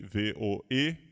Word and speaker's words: Voegelin: Voegelin se escreve V-O-E-G-E-L-I-N. Voegelin, tá?